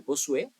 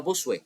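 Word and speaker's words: Bossuet: Jain, Jack Benin, Bosué ou Bosué, não sei como pronunciar essas coisas, né? Então, Bossué, vou vou dizer Bossué, né? se escreve B O S U E T eh mas é uma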